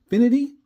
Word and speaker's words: Finity: This is the Finity.